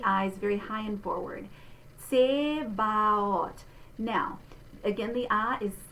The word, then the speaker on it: Zebaoth: Zebaoth. All right, so we're going to say this letter Z like ts, which is why you say the TS.